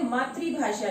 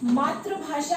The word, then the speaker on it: मातृभाषा: मात्रिभाषा थी अ कि पहले उसका उच्चारण आप चैक करें बहुत सारे बच्चे इससे मातृ भाषा कहते हैं अगर यह मात्र भाषा होगी तो यह आ जाएगी लेकिन यह मात्र भाषा नहीं होती शब्द है हमारा मातृभाषा क्योंकि यहां पर जो यह माता है यह ऋषि की मात्रा है और इसका उच्चारण रीड तरह करते हैं यहां तक कि